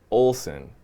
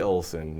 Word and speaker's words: Oleson: say your last name actualize Olson oh that's much simpler than I thought the ESS the E is silent Olson no relation we are